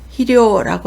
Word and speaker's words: 肥料: 비료는 희료라고 하고요.